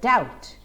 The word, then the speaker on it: doubt: A point to note here is the pronunciation of the word doubt. It is doubt. The B in the word remains silent. Doubt.